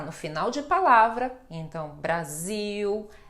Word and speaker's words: Brasil: podem praticar vamos praticando Brasil Brasil legal legal Lembrando que isto é uma pronúncia do Brasil em Portugal não eles não fazem este som de u com a letra L tá bom m a